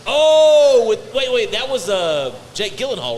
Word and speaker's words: Gyllenhaal: Oh, wait, that was Jake Gyllenhaal, right? There we go. Yeah, it was. Yeah, it yeah. was Gyllenhaal. Gyllenhaal. Yeah. It Gyllenhaal. was for sure. Gyllenhaal. But that's what I said. Gilly.